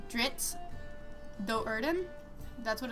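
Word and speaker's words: Drizzt: It's D R I ZT. Uh Dritz. Um, and I call him Drizzit. It just sounds better. I'm sorry, but in my head, I'm not going to read Ditz all the time. Okay. Adding that I really makes it a lot easier for me to read it.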